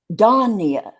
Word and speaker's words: Donia: But on her Facebook, I saw, how you get to say how to pronounce your name. Yeah. Phonetically. And it's Donia. Yeah. Just like you were saying it.